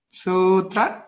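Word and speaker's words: sūtra: Sutra? Okay, you gotta try again though. Make it a long U. Sutra?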